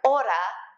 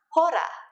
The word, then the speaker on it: hora: Remember that you don't pronounce the H's when they come at the beginning of a word, like hola is hola and not hola, just like hora is not hora.